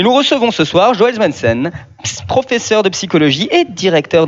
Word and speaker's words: Swendsen: Parce qu'on prononce Swensen.